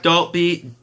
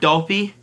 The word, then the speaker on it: Dalpe: Zach Dalpe, I thought it was Dalp back in the day. Did I change pronunciation? Zach Dalpe, he scores a bad angle shot.